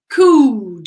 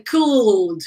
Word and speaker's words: could: And it's not could. We're going to talk about pronunciation. I was going to say preposition. Pronunciation, but guys, we don't say the L. We say could.